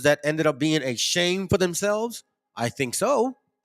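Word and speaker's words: שֵׁם: But look at how it's pronounced. Strong's H 8034. Shame.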